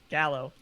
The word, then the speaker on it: Gallo: Look, if you're not going to say his name right. Gallo. Like the Gallows.